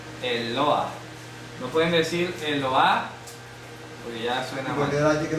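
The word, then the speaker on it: אלוה: el mapic el mapic el mapic señala que la letra e se debe de pronunciar Cómo la pronuncia el lo el Ah ya el el lo el loa es pronun Sí el mapic hace que la se pronuncie si no tiene mapic no se pronuncia ya el loa Qué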